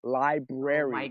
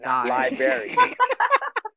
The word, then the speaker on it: library: I cannot emphasize that the word is library library and I I was